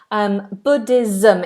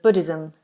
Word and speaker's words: Buddhism: Buddhism. It's a Z sound. Z. Buddhism.